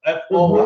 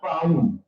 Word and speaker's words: Foy: F-O-Y. His name is pronounced F-O-Y, like Foy, not Fahim.